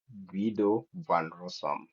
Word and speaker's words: Guido van Rossum: And then the second person here, um, the way I pronounce this name is Guido van Rossum.